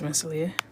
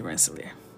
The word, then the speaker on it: Rensselaer: How do I pronounce Rensselaer? Rensselaer. If you're from Rensselaer, it would be Rentler. But I say Rensselaer.